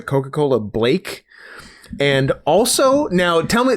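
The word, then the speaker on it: Coca-Cola Blāk: ago, Coca-Cola Black, BLAQ, although I think the A had like a weird accent on it, so I always pronounce it Coca-Cola Blake.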